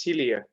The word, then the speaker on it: Celia: Yeah, the right pronunciation is Celia. Yeah. Celia.